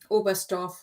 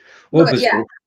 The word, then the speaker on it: Oberstdorf: The T is silent, isn't it? Oberstdorf. Yep. Sort of, yeah. So the T doesn't really need to be there, but it is. Oberstdorf.